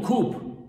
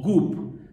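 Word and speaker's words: 급: Pero en Corea, la transliteración de los ideogramas cambia y entonces el ideograma de Kyu se pronunciará como Kup o Gup, dependerá quién haga la traducción o la romanización.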